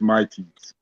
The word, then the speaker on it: Mighty's: Mitt's music production? No, bro, that's fine though. Everybody pronounce it that way, but it's Mighty's.